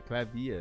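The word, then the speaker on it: Klavier: Clavier pronunciation. Clavier. Clavier. Oh, they say in German they say Clavier.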